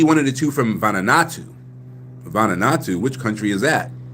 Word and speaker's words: Vanuatu: It's an A, Vanuatu.